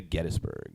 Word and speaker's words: Gettysburg: I went to Gettysburg. Oh, yeah. Which is how you're supposed to say it. Get That's how they say it there. Gettburg.